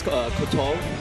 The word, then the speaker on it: Kotoff: Is it Kotoff? Technically, it's Kotoff. Kotoff. If you want to say it like a real Russian.